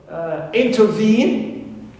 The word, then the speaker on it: intervene: For example, I have the verb intervene. It contains in its third syllable E, long vowel. That's why veen is the stressed syllable.